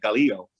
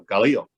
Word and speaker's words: giallo: argallo and uh i had to look up pronunciation because for years i've been calling it galileo and i actually listened to and again don't